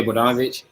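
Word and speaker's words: Bogdanović: Yeah, Bogdanovich.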